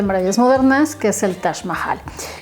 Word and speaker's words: Taj Mahal: Con J, del Taj, pero no se pronuncia ni en persa, árabe, ni en hindi, ni en urdu, Taj, sino es Taj, ¿sale? Entonces el nombre correcto, la pronunciación correcta es el Taj Mahal, que como ustedes lo